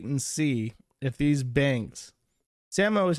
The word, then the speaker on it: Samoa: and just wait and see if these Banks Samo is how you pronounce Samoa that's the actual that's how they